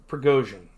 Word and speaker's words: Prigozhin: Prigozhin? I don't know. the general of Wagner group or whatever there. I'm not good at pronouncing any names. Yeah, Prigozhin.